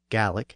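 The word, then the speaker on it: Gaelic: the government of Scotland most of Scotland spoke GIC or gallic as it's pronounced in Scotland that was the traditional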